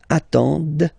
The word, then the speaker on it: attendent: the plural form, ent, but then you don't pronounce them. Ils attendent, okay, so remember you get to pronounce this, d at the end, okay.